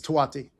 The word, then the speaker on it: Touati: It seems to be a last name maybe hard to pronounce or difficult have three consecutive vowels as common in the American vernacular, but it's a beautiful last name, it's Twatie.